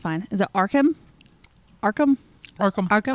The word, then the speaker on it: Arkham: Is it Arkham? Arkham? Arkham. Arkham? Arkham. Okay, I said it correctly. Arkham Horror. Richard Did you say Arkham Horror?